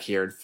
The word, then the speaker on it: Cairn: It's not Karn. It's the 4/5 Death Rattle summon. Cairn. There you go.